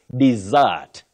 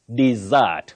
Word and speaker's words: dessert: And your last word, you say dessert, dessert, for D-E-S-S-E-R-T, that is pudding, dessert.